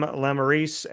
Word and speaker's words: Lemerise: So with that being said, I have Lemerise here on the show.